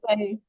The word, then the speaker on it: Bublé: It's Michael like, Bublé. oh, Bublé. Oh my God, me and my pronunciations.